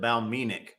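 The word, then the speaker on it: Balmenach: And the Whiskey Franco points out he says Ralphie pronounces it Balmenic. Not Balmenock.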